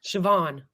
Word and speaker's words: Siobhan: How do you think that's pronounced? Siobhan.